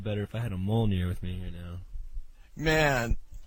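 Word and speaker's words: Mjölnir: is that fokin says that medjool nur is pronounced mole near so get it right boom ogive and spellcheck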